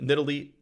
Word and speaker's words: Nidalee: it's officially in Italy it used to be nearly that was that was the Canon pronunciation for a long time but it's nidalee now okay um anyway and a